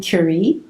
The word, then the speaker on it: Curie: It starts out with Madame Curie.